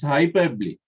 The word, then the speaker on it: hyperbole: strange word a strange word how do you pronounce it yeah very good hyperbole it's hyperbole hyperbole means another jawbreaking way exaggeration exactly uh